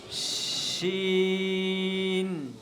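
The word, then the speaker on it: شين: আমার সাথে সাথে সবাই বলো, শিন। বলি একটু আওয়াজ হবে, কেমন? শিন, শিন, শিন।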